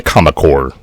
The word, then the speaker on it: Comic Corps: Promotional consideration paid for by the Comic Corps. Comic Corps rhymes with comic. Horse rhymes with Baltimore.